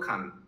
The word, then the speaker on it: খাঁ: ভগবান আচার্যের পিতা যার নাম ছিল শতানন্দ খান, অ্যাকচুয়ালি খান বলে না, খা, নট আ সাইলেন্ট, এটা বেঙ্গলি টাইটেল কিন্তু শতানন্দ খাঁ, ঠিক বলছি শম্ভুবাবু?